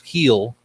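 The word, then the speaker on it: Luis Gil: Then you have Lewis Heel, Gil. I heard them pronounce on the game. They said it's heel, like what you say to your dog when you want him to say bye you.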